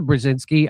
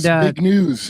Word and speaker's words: Brzezinski: He's the father of Mika Brzezinski on Morning Joe Ball. And big news, I think is how you pronounce it.